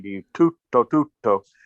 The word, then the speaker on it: tutto: What Barbara was saying to you, tutto, tutto, right? The Italians sometimes stop the sound. They go tutto, tutto, right? If you do it fast, it's tutto, tutto, and you stress the first syllable.